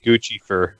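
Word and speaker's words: Guccifer: the hacker known as goose effort to point oh I've obviously mispronounced that because that's what I Gucci fur yeah sure Gucci fer sher we'll go with that which US officials say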